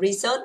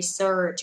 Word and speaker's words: research: Không đọc từ này là research, đọc là research bởi vì nó có chữ r đúng không ạ? Cong lưỡi lên cho cô nào.